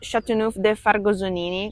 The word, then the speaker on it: Châteauneuf-du-Fargoson: I am pronouncing Châteauneuf-du-Fargosonini because I'm Italian.